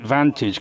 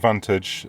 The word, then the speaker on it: Vantage: Um, so I pronounce it Vantage just out of respect to him and probably nobody else would.